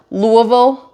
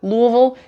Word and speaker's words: Louisville: L Louisville Louisville right know how you do it Louisville you're supposed to say it like you have a mouth full of marbles that's how it was explained to me so Louisville whatever the